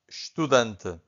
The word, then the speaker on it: estudante: This is estudante. Again, estudante. So the only thing that you can hear from the first syllable, it's a sh, right?